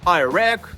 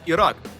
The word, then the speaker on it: Ірак: наприклад щоб часто зустрічаю кажуть I wan I Wake на країни Іран та Ірак вони і справді так називається Іран і Рак і ми вірно це